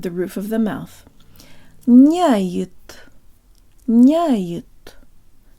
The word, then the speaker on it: няет: Nyayet, nyayet. Not nyayet with the tip of the tongue, but j-tongue lips.